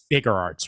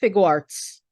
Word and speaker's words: Figuarts: going to mispronounce it it's shf figurearts right uh sh fig Arts figuarts okay yeah figuarts thank you um farts sh farts